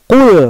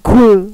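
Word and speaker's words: قل: Contohnya harusnya qul pakai qof di surat annas kan atau alfalaq awalnya qul qof. Qul au kemudian kita bacanya loncat jadi huruf kaf kan mirip-mirip nih. Iya ada qul ada kul. Nah otomatis berubah.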